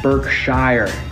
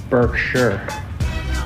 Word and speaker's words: Berkshire: Major correction, I said Berkshire in the last story. It's not Berkshire. It's spelled Berkshire. It's not how it's said. It's not how Warren says it. It's not how we said.